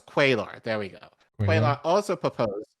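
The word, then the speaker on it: Cuellar: to oppose him on guns uh no it's quailar there we go also proposed and continues to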